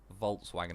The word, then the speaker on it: Volkswagen: Well, a few things like you also, isn't it the letter W? You always pronounce it more like a V than a W. So like Volkswagen would be like Volkswagen or something like that.